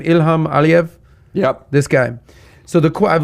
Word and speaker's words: Ilham Aliyev: Ilham Aliyev?